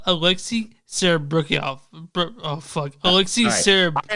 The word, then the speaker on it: Alexei Serebryakov: It's Alexei Sabrakafo? No, Alexei Serebryakov.